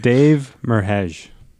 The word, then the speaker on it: Dave Merheje: But Dave Merheje.